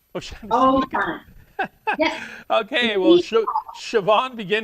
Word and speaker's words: O'Shaughnessy: O'Shaughnessy. O'Shaughnessy.